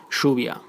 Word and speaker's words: lluvia: you can find that letters Y and double L are pronounced like sh, sh, like instead of llegar, llegar, instead of lluvia, lluvia, instead of yendo, yendo, and so on.